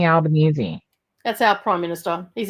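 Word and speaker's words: Albanese: you go as Anthony alanes for Halloween or do something Australian for oh no that's alany that's albanesi it's pronounced Alban Alan Anthony albanesi that's our prime minister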